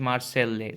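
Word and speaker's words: Marseillaise: now I am sure this is written as much as but they speak it as or they pronounce it as Marcel they so a less is kind of Silent as they marched into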